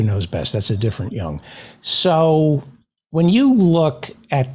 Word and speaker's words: Jung: I just learned how to pronounce Jung. So Jung.